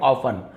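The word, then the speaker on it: often: Spelling use नहीं करें, जैसे ऑफ्टन नहीं पढ़े, ऑफन, अक्सर, हमेशा।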